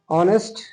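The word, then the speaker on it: honest: চতুর্থ নাম্বারে তোমরা দেখতেছো অনেস্ট শব্দটি আছে অনেস্ট শব্দটির সামনে কনসোনেন্ট আছে এইচ কনসোনেন্ট থাকলে সাধারণত এন বসার কথা না কিন্তু আমি যখন উচ্চারণ করতেছি এটা অনেস্ট হচ্ছে অর্থাৎ এখানে বাউল উচ্চারণ হচ্ছে সেই ক্ষেত্রে আমাদেরকে এ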